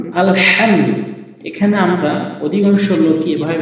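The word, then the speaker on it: الحمد: মাঝখান থেকে উচ্চারণ হয় তো এখানে যখন আমরা আলহামদু বলবো তখন সঠিক উচ্চারণ হবে এবং অধিকাংশ লোক যেটা বলে থাকে আলহামদু সেক্ষেত্রে নামাজ ভঙ্গ হওয়ার সম্ভাবনা রয়েছে লিল্লাহি আসসালামু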